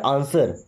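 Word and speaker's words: answer: से आंसर मी देखिए यहां भी डब्ल्यू साइलेंट है ना क्या पढ़ते हैं आंसर आंसर मींस जवाब दो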